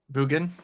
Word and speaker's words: Mugen: How do you pronounce it, Ryan? Mugen.